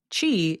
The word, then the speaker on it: Qi: Chi is spelled Qi in case you're trying to picture it as we are talking because we will mention a few times during this conversation.